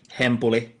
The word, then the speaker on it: Hempuli: Hempuli is fine. How do you say it? Finnish, because Finnish is like a... like if I would say it in Finnish, it would be Hempuli.